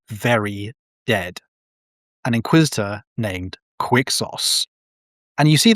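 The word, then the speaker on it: Quixos: And the one like that was basically his idol when he was young is an inquisitor Quicksauce who should be many hundreds of years dead by now.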